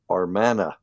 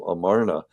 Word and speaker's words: Amarna: So, and I've lost count of the number of times that my students spell it Armana instead of Amarna. I'm like, no, it's not like an Armana radar range, or a stove or something like that.